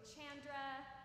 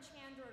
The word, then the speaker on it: Chandra: see and hear from Chandra regularly. And just a note, Chandra's name is sometimes mispronounced. So the CH part sounds like a ch, and the A part sounds like an A.